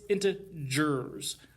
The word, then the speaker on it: integers: off by talking about integers integers not ger like a tiger so don't say it wrong it's into jurors you don't want to